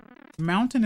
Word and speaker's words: mountain: Either way, it's like you're doing everything you can to not pronounce the T properly for some reason, right?